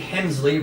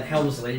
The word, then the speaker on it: Hemsley: It is indeed Hemsley rather than Helmsley.